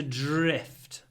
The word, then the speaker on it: drift: Anyway, to drift. And try to get a good zh, dr, dr, dr. When we have dr, we pronounce it zh, drift, drifted. Next one, 2:16.